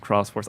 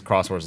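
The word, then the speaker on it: Xros Wars: I think that's pronounced Cross Wars.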